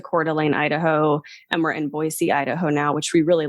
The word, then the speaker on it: Boise: pronounce the city because I was saying Boise and that's not how you say it's called it's boisey with like a soft s and not as oh